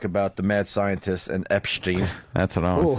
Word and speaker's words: Epstein: And also, for the record, it's pronounced Epstein.